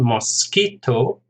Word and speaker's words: mosquito: Mosquito, 3 syllables, stress on the second, mosquito.